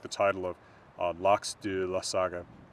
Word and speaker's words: Laxdæla: like the title of Laxdæla Saga. Modern Icelandic, that's Laxdæla Saga and isn't Laxdæla Saga. I'm emphasizing it weirdly because I'm pronouncing this vowel, and it's not even spelled the same.